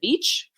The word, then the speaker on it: Veatch: commercial solar manager at black and vape visit beach black yes black and Beach awesome I'm glad I pronounced that correctly so Luke is manager of